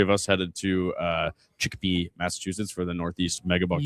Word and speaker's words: Chicopee: So yeah, Saturday, 2 out of 3 of us headed to Chicopee, Massachusetts for the Northeast Megabucks You tournament. mispronounced it. It's Chicopee.